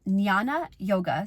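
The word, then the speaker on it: Jnana: this are is the path of Nana yoga so that's knowledge that's spelled as j n n a Nana yoga The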